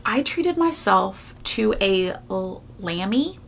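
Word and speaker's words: Lamy: treated myself to a Lambie is how you say it Lambie calligraphy fountain pen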